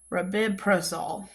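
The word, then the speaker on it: rabeprazole: talking about the generic Rapibrazole. Rabibrazole. There we go.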